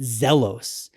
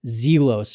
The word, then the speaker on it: Zelos: I've called it ZELOS, and it's not ZELOS. I found out recently, thank you to Random Rob, that it's ZELOS, and that is straight